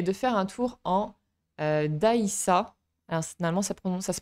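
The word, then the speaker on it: dgħajsa: Une autre activité intéressante à faire est de faire un tour en Daïssa. Alors, finalement, ça se prononce comme ça.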